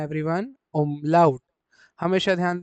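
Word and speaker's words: Umlaut: German में हम लोग हमेशा उमलाउड क्या प्रोनाउंस करेंगे आप इसको? ओमलाउट। हमेशा ध्यान दें आप लोगों को इस वर्ड को हमेशा क्या प्रोनाउंस करना है एवरीवन? ओमलाउट।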